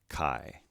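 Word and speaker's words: καί: actually matches our word this is pronounced i as an isle again we have an acute accent with a single syllable word so let's pronounce this word kai and it means and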